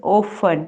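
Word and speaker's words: often: Imperative sentences ऑफन, ठीक है, टी इसमें साइलेंट है, ऑफन have uh commanding uh directive twin.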